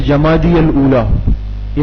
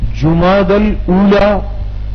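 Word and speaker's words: جمادی الاولیٰ: جمادی الاولی۔ یہ لفظ غلط مت پڑھیں، ہم پڑھتے جمادی الاولی، ان الفاظ کی بھی درستگی ضروری ہے۔ اسلامی مہینوں کے صحیح نام، صحیح تلفظ محرم، صفر، ربیع الاول، ربیع الثانی، جماد الاولی، جماد الثانیہ، رجب، شعبان، رمضان، شوال، ذوالقعدہ، ذوالحجہ۔ تو یہ لفظ کیا ہے؟ جماد الاولی۔ کیا لفظ ہے؟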